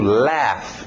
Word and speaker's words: laugh: To laugh. A escrita é muito estranha dessa aqui. Pronúncia simples. Laugh.